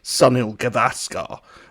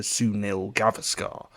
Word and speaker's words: Sunil Gavaskar: she mispronounces it, or she puts the stress in the wrong place, so she says Sunil Gavaskar, and then Lee Mack corrects her to Sunil Gavaskar.